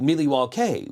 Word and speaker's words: Milwaukee: like you know yes the Indians actually pronounced it Milly wall K which is Algonquin for the good land so I knew that